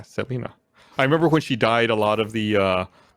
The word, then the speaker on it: Selena: Because that's how you pronounce it. Yeah, Selena.